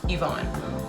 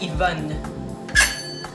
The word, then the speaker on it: Yvonne: I'm just stressing that the pronunciation of the first syllable is an E sound. It's actually just Yvonne, or en français Yvonne, if you'd prefer. I do respond to the French pronunciation of my name as well.